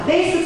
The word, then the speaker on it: faith: 나오냐면 먼저 faith가 나와요 faith 뜻이 뭘까요? face에서 얼굴 나왔는데 그거는 face죠 그 see 이거는 faith 그 껀데기 발음해서 믿음이란 뜻이고요 세 번째 줄에 rebuke 뜻은 뭘까요?